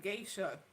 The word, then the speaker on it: geisha: Is pronounced geisha like the movie memoirs of a geisha.